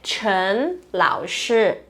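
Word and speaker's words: 陈老师: O certo é Chen Lao Shi, tá? Me chamem de Chen Lao Shi, tá bom? Chen é meu sobrenome. E aí o Lao Shi, que significa professor, que é a pronúncia desses dois ideogramas aqui em mandarim, tá?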